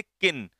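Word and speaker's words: kiln: है इसमें ऑप्शन किन इसमें एल बेटा साइलेंट रहता है ध्यान रखना ये एल साइलेंट रहता है तो इसे हम लोग क्या पढ़ेंगे किन और किन का मतलब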